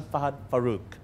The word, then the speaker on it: Fahad Farook: I'll say it like this, right? Fahad Farook. Because I say it like how he says it. I'm Fahad Farook.